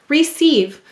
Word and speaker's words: receive: The first syllable is re. E. The second syllable is sieve. This is C.